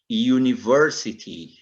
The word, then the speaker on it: university: som de u realmente Oi aqui é como se tivesse um Y na frente Olha só University University